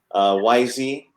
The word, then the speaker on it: Weise: So, and it's my name, Weise, like the last 2 letters of the alphabet is how you pronounce it, which is not how it looks at all.